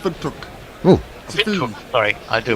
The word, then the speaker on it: Windhoek: It's pronounced Windhoek.